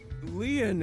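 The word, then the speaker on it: Lien: My name Lean is spelled L I E N. In French, Leon means bond, just like Kisuna means bond in Japanese.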